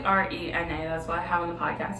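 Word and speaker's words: Reina: years now okay so she may spell it R E I N A yeah but it's really re n that's what I have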